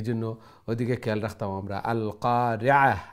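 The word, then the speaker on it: القارعة: ওদিকে খেয়াল রাখতাম আমরা আল কারিআহ আইনটা মিডল অফ দ্য থ্রোট গলার মধ্যখান্তনে আইন উচ্চারণ হইব আল কারিআতু মাল কারিআহ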